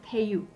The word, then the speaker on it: Tayú: one I see and this is called um pay you yes am I pronouncing that correct yes right so this is